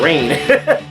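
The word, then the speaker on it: Rayne: Yeah, Rain.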